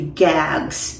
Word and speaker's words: GAGs: short short for um the way they pronounce it and you would hear it in you know on the market would be gags G A GS um it's